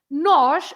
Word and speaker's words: nós: What is okay, nosh nós nosh? and nós. The pronunciation is exactly the same.